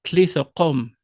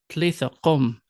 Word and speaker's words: talitha kum: When Aramaic is spoken, the spoken words would be Talitha Kum, Talitha Kum.